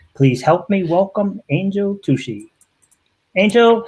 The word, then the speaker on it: Tuccy: Please help me welcome Angel Tuccy. Angel, how are you? I'm so good, Ron. How are you today? Excellent. Now, am I pronouncing your last name correct, Tuccy? It's Tuccy, like fussy.